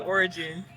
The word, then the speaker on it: Oregon: That's how you pronounce it, Oregon.